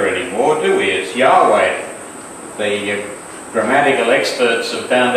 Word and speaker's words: Yahweh: very name means Jehovah saves well we now pronounce it as Jehovah rating or do is Yahweh the grammatical experts have found out that we've